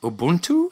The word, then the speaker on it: Ubuntu: And speaking of which, shifting gears a little bit, Leyla, I saw your TED talk that you gave in Austria about Ubuntu.